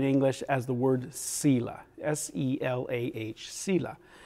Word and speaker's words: Selah: We render it in English as the word Selah, S-E-L-A-H, Selah. Different ways people pronounce that, but that's the best. That's one of the ways that we often pronounce it in English.